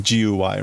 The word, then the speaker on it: Guy: That was his name, Guy, right? Like a French pronunciation, Guy.